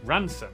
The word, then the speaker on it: Rampisham: Starting in Biaulio, Beaulieu, head over to Rampisham, Ransom, then down to Mousehole.